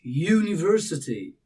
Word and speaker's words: university: All right, the phonic sound the very beginning of the pronunciation. And it's not U you U, but it's university.